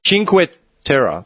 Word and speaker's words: Cinque Terre: Cinque Terre. It says how to pronounce the place.